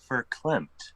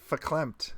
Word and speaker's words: verklempt: it a feeling of verklempt. That's when your field's hooked up. That's the science word. Verklempt. That's the science word. It says that the V is an F. I looked it up. Verklempt.